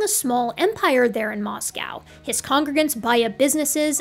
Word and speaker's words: Moscow: I think it's Moscow instead of Moscow. I've been saying it wrong this whole time, but I'll be right moving forward.